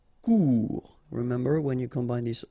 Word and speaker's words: Court: Court. Final T not pronounced. Court.